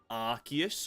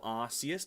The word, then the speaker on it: Arceus: Anna Rayquaza I know Arceus or Arceus depending on how you want to pronounce it I also know